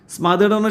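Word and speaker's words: smother: എന്റെ രക്ഷിതാക്കളോട് എന്താ പറയുന്നോ സ്മദ എന്നാ പറയട്ടോ ഉച്ചാരണം സ്മഡ ശ്വാസം മുട്ടിച്ചു കൊല്ലണംഎന്നാ മനസ്സിലായോ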